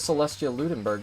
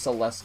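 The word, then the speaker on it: Celestia Ludenberg: Lunenburg exactly but like her name isn't pronounced Celeste eh that's she even says it herself in the game like when she voiced axe she says her name is Celestia Lunenburg they wouldn't have a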